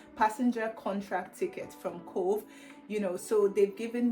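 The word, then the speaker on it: Cobh: place in Ireland called Cove and it's funny because it's pronounced Cove but it's literally spelled c o b h which is one of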